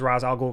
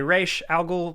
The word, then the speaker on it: Ra's al Ghul: al Ghul I'm gonna refer to him as Ra's al Ghul because that's how they pronounce it in this movie you could say rish al Ghul whatever but what they do here with Batman's